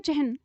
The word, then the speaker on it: चिह्न: जैसे मान लीजिए हमारा शब्द है चिह्न, इसे हम पढ़ते हैं चिह्न, ठीक है। लेकिन यह इसका सही उच्चारण न करके हम इसको पढ़ने क्या लगते हैं? चिन्ह।